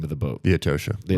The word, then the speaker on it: Atocha: The Atosha. The Right. Atosha, right? Well, I say it correctly because it was a Spanish word.